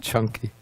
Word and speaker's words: Canki: the other kind is chunky Skippy peanut butter yeah they have smooth or chunky so this is pronounced chunky ok so the suta